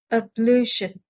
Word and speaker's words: ablution: word list a2 ablution the stress is on the second syllable ablution an ablution is an